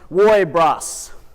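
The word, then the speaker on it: woibruss: And when you say the phrase, it's pronounced woibras.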